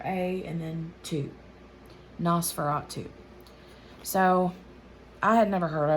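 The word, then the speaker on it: NOS4A2: number four the letter a and then two nosferatu so i had never heard of it before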